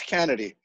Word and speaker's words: Canedy: metal man himself yes none other than carl kennedy you know i used to pronounce her name kennedy do a lot of people do that everybody does that it's perfectly fine it's kennedy it's kennedy would be the correct but we found that